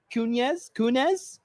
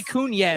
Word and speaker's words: Kunis: And Mila Kunis. I always say it wrong. I always want to say Kunis. It's Kunis.